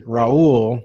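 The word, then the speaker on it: Raúl: little detail for people since my name is raoul right yeah and i grew up only you know for the first few years of my life only hearing it pronounced properly in spanish then when i went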